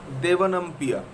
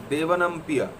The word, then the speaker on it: Devanampiya: Devanampiya. The R is silent in the Prakrit language. So, Devanampiya.